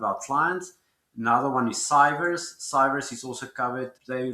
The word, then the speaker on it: Cyvers: Another one is Cyvers.